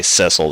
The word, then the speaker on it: Cecil: feel this right now i should say cecil that's how it's pronounced i always said cecil for my entire life so i may slip up and say sissel or cecil it doesn't [ __